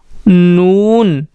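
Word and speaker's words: نون: देखिए दोस्तों इसके पेट में एक नुक्ता भी बना हुआ है, तो इसका प्रोनाउंसिएशन होगा नून, और हिंदी में इसके लिए हम यूज़ करते हैं ना।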